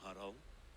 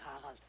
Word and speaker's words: Harald: Left us with nothing when you pledged for King Harald. We took only That what was the we Danish deserved. pronunciation. Right, Eivor's voice actress is Danish. Harald instead of Harald. Or Old Norse Haraldur.